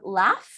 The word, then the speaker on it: laugh: we pronounce the verb laugh um right in here on the chat left you see that it ends with GH but we pronounce it like an F so laugh I'm laughing